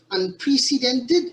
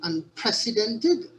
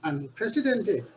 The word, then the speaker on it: unprecedented: 16 past presidents in attendance with us a mispronunciation of unprecedented should be unprecedented although the root word precedent is precedent the word unprecedented is pronounced unprecedented there's also a mispronunciation of the word era